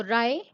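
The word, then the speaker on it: wry: ले बड़ी जो लोस व्यवहार यहां डब्लू साइलेंट है तो राय राय का मीनिंग होता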